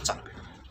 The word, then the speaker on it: 长: 有所长，长啊，他们念作长。